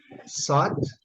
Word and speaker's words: thought: Mas a pronúncia é thought. Seria mais ou menos isso aqui, thought. Thought. Não sei se cedilha aqui, é mais ou menos isso aqui, thought. Fala um pouquinho com a língua presa, né?